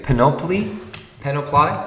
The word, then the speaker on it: panoply: panoply가 아니고 panoply가 아니고 panoply. 액센트 여기 A에 있습니다.